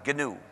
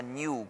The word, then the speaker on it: GNU: En inglés, el nombre se pronuncia GNU. Es una sílaba, pero me dicen que en castellano es difícil de pronunciar esa palabra GNU. Entonces se pronuncia GNU como si comenzara por ñ.